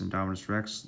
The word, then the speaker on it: Indominus rex: in history indominus rex say it like this indominus rex lives now in jurassic world length 50 feet